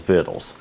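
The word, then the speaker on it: victuals: villages and buy themselves fiddles that's actually how you say it I looked it up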